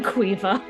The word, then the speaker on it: Caoimhe: I was thinking about the name Quiva again, which is Caoimhe.